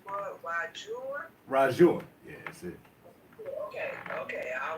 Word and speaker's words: RaJuR: Forgive me if I say your name wrong, but RaJuR? RaJuR.